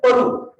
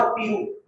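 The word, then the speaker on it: Peru: उसके बाद 8वें नंबर पे ये वाला पेरू, इसको पेरू कहते हैं लोग, जो कि गलत प्रोनाउंसिएशन है इसकी, that is पेरू नॉट पेरू।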